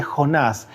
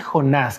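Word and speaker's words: יונה: El tema de hoy es la señal de Jonás. ¿Usted sabe cómo se dice Jonás en hebreo? Se dice Joná, no se dice Jonás como se lo conocemos, es Joná.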